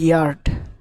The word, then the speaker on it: yard: এরপরে দেখো YARD ইয়ার্ড।